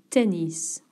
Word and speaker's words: tennis: N to swim or tennis jou or tennis. Here it's okay to pronounce the s that will be fine to play tennis.